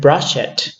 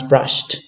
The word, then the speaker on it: brushed: Because we don't pronounce here brush it, we pronounce brushed, okay? So brush, brushed, and brushed with a t pronunciation, okay?